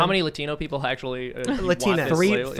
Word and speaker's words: Latinx: Latinx? Latinx. Latinx? Like Kleenex, yeah. Yeah, like Kleenex.